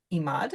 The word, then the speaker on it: Emad: today uh Deanna um I think your last name is Imad is that how you say it yes it is welcome to um to